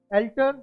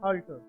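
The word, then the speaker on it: altar: अब एल्टर या ऑल्टर दोनों ढंग से आप बोल सकते हैं इसको। एल्टर करेक्ट प्रोनाउंसिएशन है, ऑल्टर करेक्ट प्रोनाउंसिएशन है।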